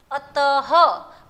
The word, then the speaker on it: अतः: ह का उच्चारण करना होता है। जैसे अतः, तो त के बाद मैंने वो दो बिंदियाँ लगाई है, तो उसका प्रोनाउंसिएशन त के बाद ह बोलना है।